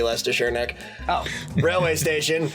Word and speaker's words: Leicestershire: butchered that much worse it's supposed to be Leicestershire Nick Oh bro my